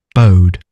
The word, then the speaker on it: bode: Bode. Bode. So it's it's as if it's this this word here. So this is the word bow.